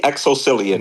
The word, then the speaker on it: XoCillian: Is it just like it's spelled out? It's exactly like it's spelled out. The XoCillian.